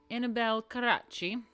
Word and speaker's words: Annibale Carracci: So anyway, we have Annibale Carracci of Bologna, who received much of his training